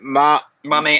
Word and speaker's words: Mammea: And it's Mammea apple.